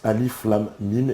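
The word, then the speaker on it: Alif Lām Mīm: comme dans un mot ainsi pour lire le début de la sourate 2 on prononce alif lâm mîm et non à eden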